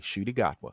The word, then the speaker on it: Ncuti Gatwa: Shooty Gatwa. Oh, Yeah. he has it starts with an N. I would have never guessed Right. Shooty. Well, because the N is silent.